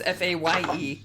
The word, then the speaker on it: Fae: The E is silent. It's the Y I'm wondering about. I thought her name was FAE. I thought it was Faye.